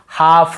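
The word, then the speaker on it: half: जसे काफ काफ काफ हाफ हाफ काफ हाफ एल को यहां पे नहीं पढ़ना काफ हाल्फ नहीं पढ़ना है काफ बचड़े को बोलते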